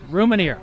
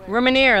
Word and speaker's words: Rousmaniere: Now, Kate, I believe I actually pronounced your name correctly tonight. Rousmaniere. Rousmaniere, that's right.